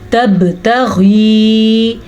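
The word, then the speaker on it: تبتغي: جاتا ہے، ٹھیک ہے۔ تبتغی، غین کے تلفظ کا خیال رکھنا ہے اور یا مدہ کو بھی ادا کرنا ہے۔ مرضات ازواجک، रॉ को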